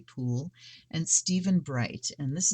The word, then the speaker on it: Puhle: the card geek and her name i'm assuming it's pronounced pool p-u-h-l-e tony poole and steven bright and